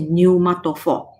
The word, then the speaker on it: pneumatophores: we call pneumatophores so we do not pronounce the p sound the p letter you just pronounce it n there say new moto for okay just like the